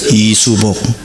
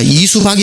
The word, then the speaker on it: 이수복: 이수복. 그 여자 이름으로서는 자랑스러운 이름은 아니죠. 이수복. 그래, 미국에 오니까 또 SOOBOK인데 BOK를 복으로 발음 안 하잖아요. 미국 사람은 박으로 발음하잖아요. 그러니까 이수박이 돼버리는 거예요.